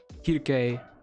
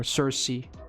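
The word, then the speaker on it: Circe: Kirke. Or Cersei. Whatever you want to say. I used the Japanese pronunciation.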